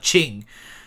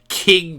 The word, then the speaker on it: Qing: please no, Shadow Hearts, they mispronounced the Qing dynasty as King Dynasty.